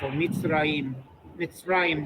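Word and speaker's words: מצרים: this first syllable is closed by the tzadi and a shva. Meets. Rayim. Mitraim. Beautiful. Mitzrayim.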